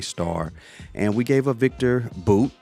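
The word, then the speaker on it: Viktor Bout: and we gave a Victor boot is how they pronounce it we've been saying about Victor about but it's Victor boot uh and he is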